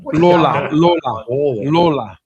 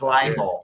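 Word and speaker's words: Lalor: No one knows how to pronounce it. Like Lola. It's Laylaw.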